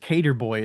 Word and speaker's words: Cater Boy: I think it's just Cater Boy is how you say it. Like a skater Cater boy.